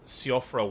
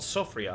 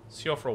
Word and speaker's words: Siofra: I actually wound up emerging from the deep Siofra well. Oh, I thought this was called Sofria. I've been mispronouncing it. Siofra well.